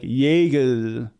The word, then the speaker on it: Jägermeister: All the J's sound like Y's, like Jägermeister.